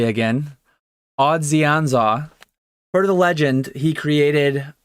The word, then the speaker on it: Odzionza: Odzionza is what it's intended to be pronounced as, per the text in the bottom right.